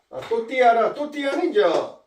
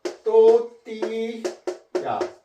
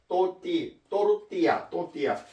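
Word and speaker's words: tortilla: 또띠아는 또띠야. 스페인어로 공부하는 사람은 안 돼. LLA가 라가 아니고 야라고 발음하면 돼. 야, 또띠야라고 발음해야 돼요. 또르띠야.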